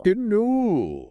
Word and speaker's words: colonel: Yeah, it comes from an older Spanish word that had an R in that spot. So, the pronunciation has stuck around even though the spelling changed.